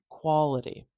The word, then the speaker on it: quality: sounds in it and we have to identify where the primary stresses Quality quality do you hear how this first syllable here is pretty stretched out and kind of long like that a is a little bit longer duration Quality quality I'm going to place the stress marker right there at the beginning quality